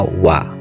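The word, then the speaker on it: は: Jadi di sini partikel wa ditulis h tetapi bacanya wa, berfungsi untuk menunjukkan subjek atau topik dalam kalimat dan diakhiri nanti des untuk menunjukkan bentuk formal yang sopan.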